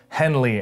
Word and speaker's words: HNLY: Now, before we get into outfits 4 and 5, in both of these outfits, I'm wearing, my undershirt is from Henley, and that's spelled H-N-L-Y.